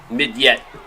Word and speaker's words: Mignette: So I called him Midget. It's actually Shavar Mignette. So maybe it's not. It says Midget, but we're gonna assume he's French. Mignette. Interesting. Mignette. The G is silent.